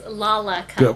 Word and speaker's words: Lollacup: and forth I was hearing some folks say laup and other folks say Lola cup what is the exact pronunciation for that it is laac cup okay because I was